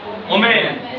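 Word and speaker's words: woman: वुमेन। मैन ऑफ, वुमेन नहीं, वुमन।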